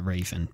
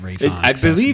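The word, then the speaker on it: Raisin: It's spelled like Raven. I always call it Raven, but we'll be fancy and call it Raison.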